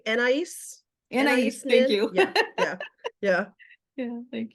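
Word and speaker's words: Anaïs: And it was Anisnin, or I'm going to say it wrong. And I think Anais.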